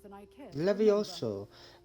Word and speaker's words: Levioso: Levioso, not Leviosa.